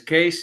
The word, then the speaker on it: Kees: So my name is Kees. It's a Dutch name for the English spoken, pronounced as the same case as suitcase or case study.